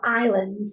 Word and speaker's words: island: Blends into the te next we we have Island the S is silent therefore we're left with i